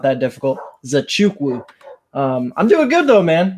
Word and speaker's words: Nzechukwu: We were just talking about how to pronounce that gentleman's last name. It's actually not that difficult. Nzechukwu.